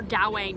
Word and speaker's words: Gawain: Sir Gawain, or Sir Gawain, depending on how you pronounce it. He's a knight, Gawain, and he's approached by this Green Knight who